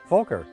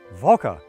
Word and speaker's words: Volker: to teach you is how to say my name i said oh okay volker no it's i said folka he said no voca i said voca he said ah it's beautiful german so i decided to push